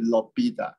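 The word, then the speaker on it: L'Hôpital: But I mean, we need to speak it in French. So it is gonna be Lobita. H is silent, okay.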